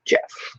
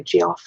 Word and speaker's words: Geoff: Yes, Jeff with a G is pronounced Jeff. Like Jeff. I went to high school with a kid named Jeff. And yep, Jeff. A lot of people do say Geoff though, so it's just not right.